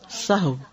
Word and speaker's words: سہو: سہو جیسے لغو، ٹھیک ہے، کرب، نفس، سہو.